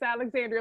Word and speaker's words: Alexandria: Just want to make sure that y'all know it's Alexandria. Look at him looking like that. I don't care. I'm saying it. It's a little hard for people to break habits and call me my full 5 syllables.